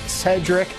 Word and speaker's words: Sherdrick: yards clint delzell dallas cedric bonner it's yes it's spelled sherdrick but it's pronounced cedric he's close to 41